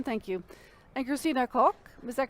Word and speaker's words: Christina Koch: Is that a correct pronunciation? Thank you. And Christina Koch, is that correct?